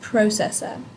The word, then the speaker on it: processor: long word here food processor the emphasis is at the beginning of processor so you would put